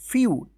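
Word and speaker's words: few: डब्लू क्या पढ़ेंगे इसको फ्यू फ्यू पढ़ेंगे एफ ई से जो है ना यू उच्चारण होगा तो एफ से फ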